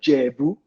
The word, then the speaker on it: Ijebu: The Ijebu people don't call themselves Ijebu. They call themselves Jebu. The I is silent. It is that Jebus, Jebu.